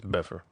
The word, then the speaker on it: Bedford: There's no D's in Bedford, just so you know. It's Bedford. Bedford. Oh, no D's. No D's. I was going to not pronounce the D of bed.